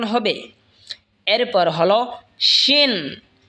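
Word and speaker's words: ش: এরপর হলো শিন। শিন জিহ্বার মধ্যখান তার বরাবর ওপরে তালের সঙ্গে লাগা উচ্চারণ হবে শিন।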